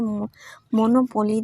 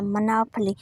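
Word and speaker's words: monopoly: जब हम इसको पढ़ेंगे मोनोपोली, तो जब दूसरा बंदा इसको सही पढ़ेगा मनाफली, तो कैसे समझेंगे हम कि ये क्या पढ़ रहे हैं।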